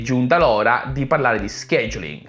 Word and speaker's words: scheduling: E quindi è giunta l'ora di parlare di scheduling. Lo scheduling o scheduling, scheduling è, per chi vuole utilizzare la pronuncia britannica, è quella parte del